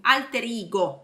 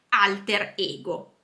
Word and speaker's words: alter ego: Comunque sì, viene utilizzato in inglese, però la pronuncia è all'inglese, più alter ego, alter ego. In realtà la pronuncia originaria latina è alter ego.